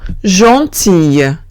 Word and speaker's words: gentille: Salvo que tengamos una I antes. Si tengo una I antes, en ese caso sí que se pronuncia como una ella. Ejemplo, gentille.